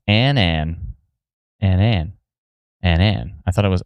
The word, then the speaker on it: Annan: It's pronounced Annan. Annan. My bad.